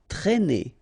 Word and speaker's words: traîner: Okay, accent circumflex here, so you should write it, but then keep in mind that you don't pronounce it, so it doesn't change the pronunciation of this combination of two letters, A and E together, it's E, okay, traîner, traîner.